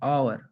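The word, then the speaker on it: hour: an apple, an आवर, अभी यहाँ पे ठीक है, एच साइलेंट है, तो आवर, आवर, मतलब ये ओ का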